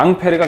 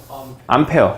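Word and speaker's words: Ampère: 암페어. 이 사람이야. 이 사람 프랑스 사람이야. 그러니까 발음을 원래 앙페르 이렇게 발음해야 돼. 앙페르 이렇게 발음해야 되는데 이제 영어식 표현으로 암페어라고 표현한 거야.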